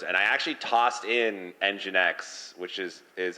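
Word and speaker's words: nginx: people pronouncing words and I actually tossed in engine X which is is how I pronounce it and I was actually curious if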